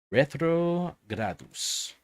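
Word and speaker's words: retrogradus: comes from the aladdin retro i'm not pronouncing that correctly retro gradus yeah there we go retrogrados which means which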